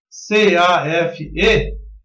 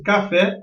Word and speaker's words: café: Então, pronuncia-se café e não caf.